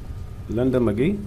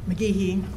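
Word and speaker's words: McGehee: Linda McGee? I'm saying it right? Did I say your name correctly? McGeehee, but I'm used to it being pronounced wrong, so that's okay.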